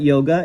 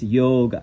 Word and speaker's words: yoga: By the way, it's not yoga, it's yoga. That's really how you would pronounce it, is yoga.